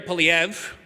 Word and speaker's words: Poilievre: Which means if you'd only had teenagers voting in the most recent federal election, Pierre Poilievre, that's how you pronounce his name, would be prime minister right now.